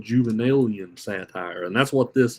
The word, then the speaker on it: Juvenalian: There's also a form of satire called Juvenalian satire, and that's what this is. Juvenalian satire. It's spelled Juven. Let's see. ALIN, Juvenalian satire.